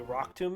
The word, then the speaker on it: Rock Tomb: It rhymes with doom.